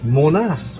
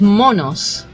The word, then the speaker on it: Monos: um Munoz but I I think people actually pronounce Monas when they say not Island correct but it's monos right monkeys in Spanish I wonder where they